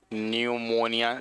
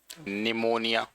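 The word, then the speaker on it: pneumonia: तीसरी डिजीज है निमोनिया न्यूमोनिया spelling सही है, निमोनिया।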